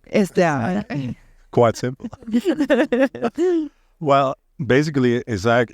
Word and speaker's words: ESAIC: Tell us how to pronounce it. ESAIC. ESAIC.